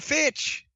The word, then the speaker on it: Fitch: And they said Sitch, I thought they said Fitch. So she became Tammy Fitch. How perfect is that? That you got a heel manager, I shouldn't say valet, a heel manager whose last name rhymes with bitch.